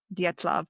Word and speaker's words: Dyatlov: Um what has been called um Datlav Pass. I looked up that pronunciation.